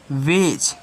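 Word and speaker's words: wedge: पे डी आ गया अब इस डी को साइलेंट कर दो जब साइलेंट करोगे इसको क्या पढ़ोगे इसको आप पढ़ोगे वेज क्या पढ़ोगे बेज पढ़ोगे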